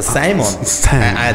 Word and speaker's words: Simon: y yo trabajaba de animador siempre, que fui primero animador y DJ, por eso Simon, por Simeón, que en inglés Simón se pronuncia Simon, DJ Simon.